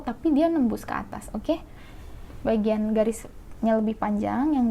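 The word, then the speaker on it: を: Kalau he ini dibacanya kalau partikel, dan ini wo ya, wo ini dibacanya dengan o ya.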